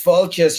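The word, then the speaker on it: Fáilte: Because Falcha should be spelled Failte with an accent on the A. F.A. father, Falcha. And I Okay. said to the bloke, I said, actually, that's more like Falcha or Felcha.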